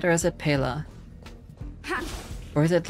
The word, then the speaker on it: Pela: It's Pila, right? Or is it Pela? Or is it like some other pronunciation that I got very wrong?